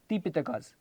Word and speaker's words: तिपिटक: तो इनको त्रिपिटकास बोलते हैं या तिपिटकास, क्योंकि पाली लैंग्वेज में, लिटरेचर में र जो है वो साइलेंट होता है।